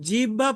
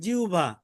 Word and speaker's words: জিহ্বা: তালুর সঙ্গে লাগাইয়া আমরা যদিও জিব্বা পড়ি কিন্তু শুদ্ধ উচ্চারণ কি জিউবা এটা তো আর কি বাংলার